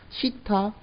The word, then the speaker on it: 시타: 시타 영어에서 뻔데기 발음 뜨 발음인가요?네 무음이라 그죠?네 그 뻔데기 바람 모양은 같습니다마는 읽을 땐 시타 그다음에 뮤두 요렇게 생긴 뮤도네 보신 적이 있을 거예요.